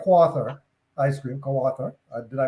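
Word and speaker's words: Kawartha: So, but the question more is, so you have brands like Quathar ice cream, Quathar. Did I pronounce it right?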